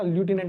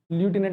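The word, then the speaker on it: lieutenant: देखो इंग्लिश अगर आपको पेपर में भी आएगी तो इसे याद रखना, ल्यूटिनेंट बोलते हैं, ठीक है। इसे क्या बोलते हैं? ल्यूटिनेंट बोलते हैं, LIUTENNT, ठीक है, ल्यूटिनेंट।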